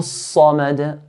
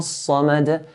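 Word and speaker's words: صمد: Sad here is from the heavy letters. We pronounce sad in a heavy manner. Sa, not sa, but sa. Allahu Samad, Allahu Samad.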